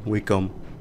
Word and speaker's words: Wacom: Wacom, so a Wacom, Wacom, however you want to pronounce it. I say Wacom. I don't know why I said Wacom the first time, but yeah.